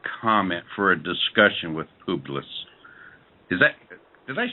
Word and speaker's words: Publius: I've never learned how to pronounce Publius. Publius, yes.